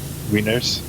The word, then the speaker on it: Wienners: It's spelled Wienners. So, Wieners.